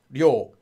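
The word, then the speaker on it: 료: the beginning of the word it's only red as you'll but at the middle of a word or any other anywhere else in the word it's actually read as yo so this yo actually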